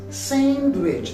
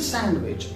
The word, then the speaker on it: sandwich: So might be some of you also pronounce it as sandwich. It is not sandwich, it is sandwich.